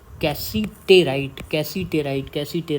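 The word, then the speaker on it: cassiterite: लेकिन उसके अलावा टिन का एक बहुत इम्पॉर्टेंट और है, वो याद रखना, उसको बोलते हैं कैसीटेराइट, कैसीटेराइट।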